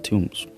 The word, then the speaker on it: tomb: It's a thing in English to not pronounce the B after the M.